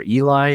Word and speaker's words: Ely: The paper that he was referring to is one that came out in 2019 by a researcher by the name of Eli. His name is spelled Ely.